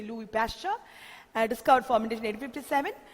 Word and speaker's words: Louis Pasteur: asked who discovered fermentation you must be able to answer Louie Louie pasture or you know you can't pronounce anyone but it is better you say Louie pasture I just caught formation